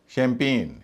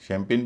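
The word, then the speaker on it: champagne: शैंपेन शैंपेन भी noun है। लेकिन इसमें ए आई दूसरे हिस्से में होने के बावजूद उसका उच्चारण ए हो रहा है।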